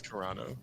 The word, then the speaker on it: Carano: It was Carano.